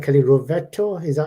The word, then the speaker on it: Rovetto: Kelly Rovetto. Is that how you That's pronounce?